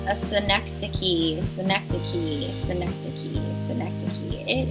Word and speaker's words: synecdoche: year um and this one is called a synecdoche synecdoche synaptic key synecdoche it is pronounced much differently than what it looks like